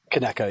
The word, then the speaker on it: Kineko: what is kco or is that how you pronounce it kco keko yeah okay okay so what is keko yeah